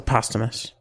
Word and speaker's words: posthumous: you say it post post you miss her posthumous posthumous is that funny but it is [